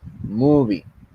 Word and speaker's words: movie: Por esa razón es que la sílaba tónica está en un principio. Movie.